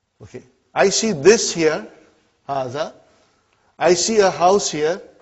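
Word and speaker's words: هذا: See, it is pronounced like Haza. But this alif is not written. It is explained in the key also. So it is Haza.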